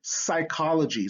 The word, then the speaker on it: psychology: here ps as in psychology so that s this this p is silent it becomes a s okay rh is in